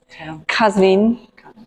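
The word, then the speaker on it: Qazvin: And how do you pronounce where she was born? Kazine.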